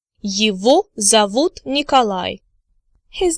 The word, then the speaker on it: его: Now you remember from supplementary materials from previous lectures that G in the word его is actually pronounced as V.